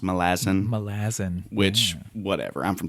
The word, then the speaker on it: Malazan: I say Malazan because I'm from Tennessee. It's actually pronounced Malazan.